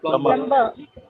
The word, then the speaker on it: plumber: And not only the B is silent, but R is also silent here.